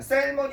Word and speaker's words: salmon: 이 L이 발음 안 돼가지고 우리 보통 초등학교 때 보통 암기하는 거잖아. 셀머니 아니라 셀머니야.